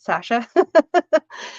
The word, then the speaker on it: Sacha: Sacha is how my name's actually spelled, but I use the S so people understand how to say it. Sacha.